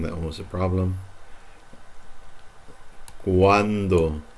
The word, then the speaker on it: cuando: Cuando. Wa. When they're together, you're gonna pronounce these like wa.